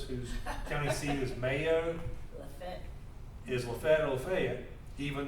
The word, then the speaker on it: Lafayette: Lafayette. It's Lafayette or Lafayette. You don't say You Lafayette. spell it Lafayette. It's still spelled the same. But It's it's just- Lafayette. You just pronounce it differently, because we're from the